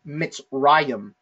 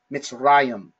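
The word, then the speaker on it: מצרים: So for this one, the word for Egypt in the Old Testament is Mitzrayim, Mitzrayim. Okay, that dual sounding part at the end, it makes it dual.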